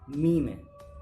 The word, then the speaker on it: meme: यहाँ पे हम देखते हैं 2 बार डबल है तो मीमी बोल देते हैं। ऐसा नहीं है, इंग्लिश में ऐसा कॉन्सेप्ट नहीं है। इसकी एग्जैक्ट प्रोनाउंसिएशन क्या है? मीम है। व्हाट? मीम।